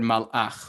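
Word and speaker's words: מלאך: The word malach, which means a messenger or an angel, right, has two shva nachs. It's got a shva at the end of the first syllable, mal, and so that's silent.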